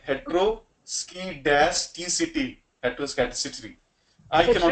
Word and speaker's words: heteroscedasticity: So that's why I mean it's very very difficult for me to pronounce multiple times. So heteroscedasticity, heteroscedasticity, right?